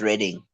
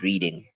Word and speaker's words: Reading: your question brother firstly it's pronounced rating not reading yes hey man what